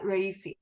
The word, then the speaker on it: Raisi: Raisi, yeah. Yeah, Raisi.